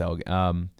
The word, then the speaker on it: Elgin: Let's say, but yeah, no, it's Elgin.